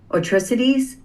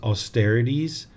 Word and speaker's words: austerities: Past unwholesome actions cannot be exhausted with the performance of piercing atrocities. Am I saying that right? I think the way I pronounce it is austerities.